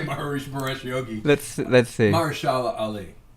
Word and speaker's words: Mahershala: Mahershala Ali.